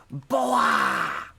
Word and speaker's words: Boa: Boa. They kind of say it like that. They go, boa.